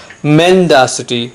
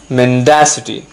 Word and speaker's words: mendacity: often accused of mendacity once again remember the stress is on the second syllable it's not mendacity its mendacity remember in both the